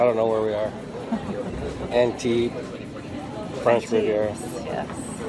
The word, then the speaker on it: Antibes: Antibes, French Riviera. Yes. They don't pronounce S's.